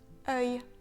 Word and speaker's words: œil: On ne prononce pas le L dans œil comme un L normal, donc on ne le prononce pas le.